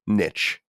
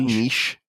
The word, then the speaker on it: niche: So I'll say like niche, because that's how you say it in English, not niche, because we're not speaking French.